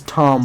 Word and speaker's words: Thom: tom brennaman but it's his first name is spelled all stupid so it's tom but but it's t-h-o-m yes yes that was